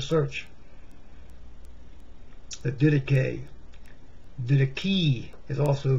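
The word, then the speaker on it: Didache: and do a search that did it gave did a key is also correct correct pronunciation or some people say died a key because they've never seen the word before look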